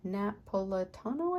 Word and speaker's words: Napolitano: Napolitano, I think is how you say it.